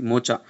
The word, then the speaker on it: Mocha: Mocha it is pronounced.